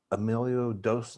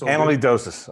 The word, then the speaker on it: amyloidosis: can't pronounce it appropriately emilio emilio dos i'm not saying that right it's all good cardiac amyloidosis is what i have cardiac emilio i don't emilio don't amyloidosis it's amyloidosis okay all right which effects